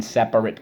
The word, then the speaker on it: separate: my aunt's house in separate cars. Okay, separate. Let's go. Sep-ar-et. Separate. So let's go. Sep-ar-et. Separate. Okay, so how do we mark this up? Excellent. Underline the R and the silent E twice.